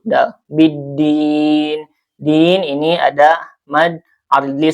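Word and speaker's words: بِالدِّينِ: Dibacanya langsung ee diidgamkan ke huruf dal ya biddin. Jadi lamnya tidak terdengar atau tidak ee dibaca ya langsung ke huruf dal. biddin din ini ada mad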